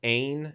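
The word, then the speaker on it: ἦν: word was god right so uh you we pronounce the was ain is that correct pete yes okay so we've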